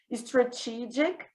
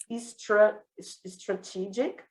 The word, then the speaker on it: strategic: Lembrando que como é que eu pronuncio o G no alfabeto? J. Igual a calça que é jeans, né?